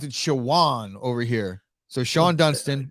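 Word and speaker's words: Shawon: We're going to pronounce it Shawan over here. So Sean Dunston, we're going to say Shawan. My buddy from LSU, Darryl Clark, says pronounced Sean.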